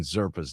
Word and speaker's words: Zerpa: Uh, Sir Isaac Collins and Nick Mirs go to Kansas City for Now, how are you pronouncing Zerpa's name? Is it Serpa? Zera. Zerpa. Zerpa. Okay.